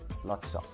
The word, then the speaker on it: lots of: Sino es como un lots of. Es una, el O de OF, lots of, se convierte un poquito en una A por no querer redondear la boca.